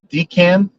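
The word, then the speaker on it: Dencun: pronounce this wrong uh like uh dcan I think is what it is pronounced right uh Denmark Cancun like so yeah Dean uh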